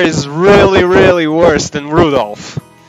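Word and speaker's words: 留弗夫: tell you that thanks that mess of characters is pronounced rudolph haha he must hate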